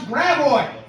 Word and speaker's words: Gravois: Louis with how we pronounce Gravois.